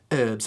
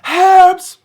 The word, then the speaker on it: herbs: such as this one, where we just say herbs. In the UK, they really want to make sure, you know, there's an H there, and so when you pronounce this one, be sure to do it herbs.